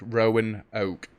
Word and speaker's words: Roanoke: sorry next stop roanoke i was told how to say it properly rowan oak thank you very much